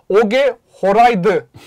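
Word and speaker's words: Åge Hareide: Takımın başında Oge Horaydı var. Bunu bak dalga geçmeyin. Bunu Horaydı. Bunu şeye baktım ya, bayağı nasıl telaffuz ediliyor diye baktım.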